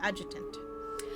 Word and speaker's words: adjutant: Is the D silent? I was kind of saying correct. I just putting the emphasis on the wrong place. Adjutant.